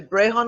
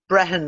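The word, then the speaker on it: Brehon: interesting it's it's the the gray hun laws I didn't say that right and how do you say it Brian Breton laws yeah okay so the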